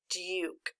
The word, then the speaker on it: Duke: That really is making a long U sound, so we correctly say the word Duke.